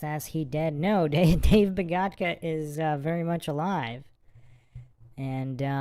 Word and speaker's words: Bogatka: So we have a special guest today on MindShock here, the one and only Dave Bogatka. Did I pronounce that correct? Yes, you did. Bogatka.